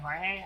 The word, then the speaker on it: Jorge: up just calling you Jorge I got used to it interesting CU it's like it's spelled Jorge but pronounced George which is weird but it's whatever but